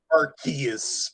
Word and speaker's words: Arceus: I know it's supposed to be pronounced with a hard C.